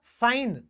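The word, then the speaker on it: sign: साइलेंट हो जाता है कैसे देखिए एन से पहले जी आया साइन क्या बोला गया किसने गलत होगा सेकंड नहीं होगा ये होगा साइन अब ये दोस्तों क्या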